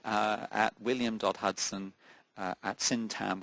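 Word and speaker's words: Syntagm: Hudson uh syam with a silent g s y n tm.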